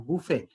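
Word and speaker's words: buffet: আমি তোমাদেরকে আবার শেষের ক্ষেত্রে দেখাইছিলাম বুফে, শেষে টির কোনো উচ্চারণ নাই, ঠিক আছে?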